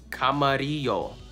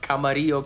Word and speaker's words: Camarillo: gotta do it right Camarillo California Camarillo California it's not English remember and the last